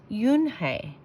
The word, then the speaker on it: Unhei: no no unhei corrected it's spelled u n h e i it's pronounced yoon hey oh it's you hey